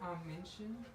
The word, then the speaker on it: Minchin: I think his name's Minchin.